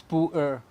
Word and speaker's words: pu-erh: You can just check the pronunciation, it's pu-erh.